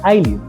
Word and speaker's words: ayllu: in common regarding pronunciation you'll hear that I pronounce the word like auu but if you look in other sources you will hear that other people pronounce it like IU the reason for this difference is that kicha